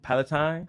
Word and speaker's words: Palatine: How you pronounce it? Palatine.